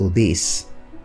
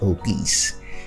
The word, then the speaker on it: obese: Most people say somebody is obese, but the correct pronunciation is obese.